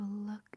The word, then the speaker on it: look: So look is pronounced the same as Luke.